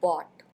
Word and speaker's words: bought: V2 form यानी past form होता है बॉट। यहाँ पर स्पेलिंग देखिए इसकी है BOUGHT। OUGHT को ऑट पढ़ते हैं, ऑट। B को पढ़ते हैं ब, और उसके बाद ये हो जाता है ऑट।